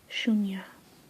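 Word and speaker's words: shunya: along the bottom but zero is basically like zero and it's pronounced shuna so I don't know if you guys can see that sh h u n y a that's not really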